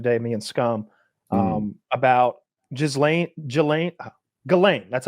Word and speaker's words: Ghislaine: We got into this whole conspiracy rabbit hole the other day, me and Scum, about Ghislaine. That's how you pronounce it. Ghislaine Maxwell. It's Ghislaine Maxwell.